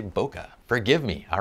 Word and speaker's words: bokeh: 17 of 40 and I probably should pronounce bokeh the right way which is Boke but uh I don't know I say it kind of quick so sometimes I just say bokeh forgive me all right